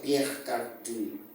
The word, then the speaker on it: Pierre Cardin: Dice Pierre Cardin, pero dicen que se pronuncia Pierre Cardin. No sé si sea francés.